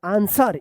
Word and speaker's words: ANSWER: ANSWER आंसर, इसको भी आप याद रखिएगा, सॉर्ड आंसर, देखिए ANSWER आंसर।